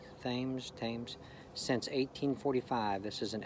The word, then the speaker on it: Thames: I think it's pronounced Thames. Thames.